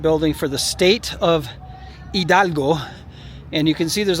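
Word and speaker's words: Hidalgo: of the state of Idalgo which is spelled hi D A L G O Idalgo.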